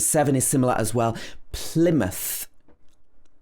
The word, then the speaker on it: Plymouth: is similar as well plymouth plymouth this is not pronounced ply it should be pl first syllable is stressed plymouth it's also a